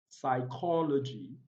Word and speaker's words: psychology: the letter p is not articulated or not pronounced we have cool we have psychology psychology we have psyche we have pneumonia we